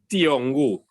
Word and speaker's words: Thiong'o: Well, Ngugi, let me spell it for you. Nguigi. Ngugi. Thiong'o.